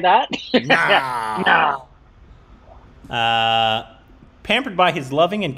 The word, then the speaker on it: Naal: Pronounced just like that. Does it have to be said like that? Naal.